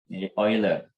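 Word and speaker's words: Euler: kalian bacanya gimana nih sebenarnya bacanya bukan e ya bentuk eh e senya bacanya bukan e ya tapi BAC Bu orang Inggris bukan oiler jadi bentuk oiler ini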